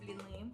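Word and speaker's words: блины: Blini. Blini, or as Americans say, blini. Blini? No, blini. Well, Rough. ew. Blini. It's kind of hard to pronounce, I guess, but Blini.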